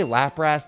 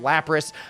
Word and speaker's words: Lapras: Did I just say Lapras? That's not how you say it. Lapras.